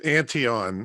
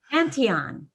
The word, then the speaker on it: Antion: do you say your last name it's antion it's actually a mistake antion yeah my dad came into ellis island from